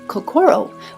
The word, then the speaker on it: kokoro: We have lovingly Americanized the pronunciation of kakoro with the emphasis of core in the center because the heart is in the center of everything we do.